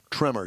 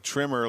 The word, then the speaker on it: Tremor: ranch tremor is a new trim level trimmer tremor t-r-e like the movie with well you new yorkers would pronounce it tremor tremor tremor i thought you were like trimmer like the guys in coming to do my